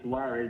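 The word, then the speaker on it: Suárez: funny it's funny suarez but when you say suarez you don't have a zvn it's a f but you still pronounce it like that to our suarez okay got you okay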